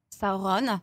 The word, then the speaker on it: Sauron: 2 va tourner sur saoron Oui je dis saoron parce que c'est la prononciation vous disez tous Sauron mais c'est çauron et alors nous on